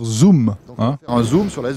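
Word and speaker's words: Xoom: Motorola la fameuse zoom alors ça s'écrit zoom mais il faut dire zoom faire un zoom sur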